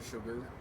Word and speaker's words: sugar: such a weird word why is it pronounced like that if anything it should rhyme with cigar or just be pronounced very similarly cigar cigar but no it has an sh for some reason oh gosh okay well